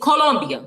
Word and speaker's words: Colombia: I'm sorry that you're hating on me because I actually know how to speak Spanish and I'm saying it I'm saying it correctly. It's Colombia. But Colombia.